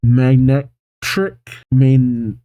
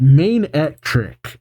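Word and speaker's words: Manectric: Magnetric? Cetric? How do you pronounce that? Alright, Main-Etric.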